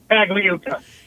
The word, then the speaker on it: Pagliuca: Now, his partner that didn't get the team, help me with the pronunciation again. Pagliuca.